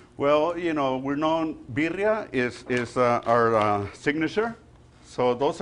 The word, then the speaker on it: birria: So Raul was kind of showing off his pronunciation of birria when he was talking to me. Can you coach me a little bit? How can I say it so I can, like, outdo Raul? Birria.